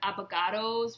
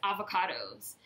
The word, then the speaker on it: abogados: There's a scene where Foggy, Dick, he pronounces the word abogados, which is the Spanish word for lawyer. He keeps pronouncing it as avocados.